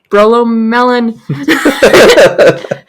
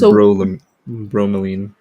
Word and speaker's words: bromelain: Brolomelin. Brolomelin. Usually, brolomelin actually digests protein. It's bromelain.